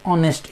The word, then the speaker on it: honest: Okay, for example, that means look at honest, H-O-N-E-S-T, honest. In H-O-N-E-S-T, H after there is O-N-E-S-T, O, that is vowel there, so H remains silent.